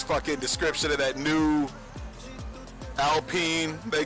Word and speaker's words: Alpine: it's a French fucking name and it's like pronounced Alpine.